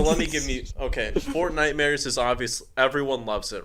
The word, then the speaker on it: Fortnitemares: Fortnite mares or whatever. Isn't that how you say it? Fortnitemares. Or is it Fort Mare? What is it? It would obviously be Fortnitemares.